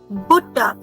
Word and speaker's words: Butter: Now the next word looks exactly like the English word, but in German pronunciation is different. Die Butter. Die Butter.